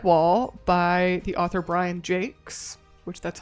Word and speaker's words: Jacques: the book Red Wall by the author Brian Jakes, which that's how you pronounce his name. Jake, it's not Jacques.